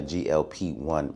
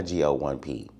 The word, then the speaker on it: GLP-1: I am on a GLP-1 medication, not a GO1P.